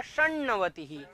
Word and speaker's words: षण्णवतिः: इसका जो उच्चारण होगा षण्णवतिः।